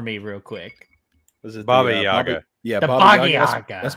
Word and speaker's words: Baba Yaga: Bruce Lee or the Boogieaga?